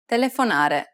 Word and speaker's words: telefonare: is the last syllable how about this one telefonare the answer is the second to last syllable remember if you're not